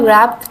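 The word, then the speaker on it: wrapped: ही गव हिम अ रैप्ड gift box. व्हाई आर we using ए over here? Because W is silent but आर इज़ नॉट अ vowel word.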